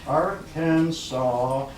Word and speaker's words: Arkansas: reduce that they're after the word shall be pronounced Arkansas the final test shall be considered violent and